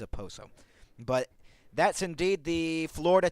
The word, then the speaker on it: Okposo: As Nick Cousins will be in the lineup for Kyle Okposo, or Okposo. How do you pronounce that? Okposo or Oposo? I believe it's a Poso.